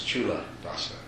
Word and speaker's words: Culadasa: Yeah, people often don't know how to pronounce it, but C in Pali is pronounced like CH in English. So it's Culadasa.